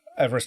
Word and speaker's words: Everest: know how to pronounce even though the the name of the person who is pronounced who it's named after had never pronounced it Everest I think Eve rest was the way he pronounced his name or something along those lines Berlin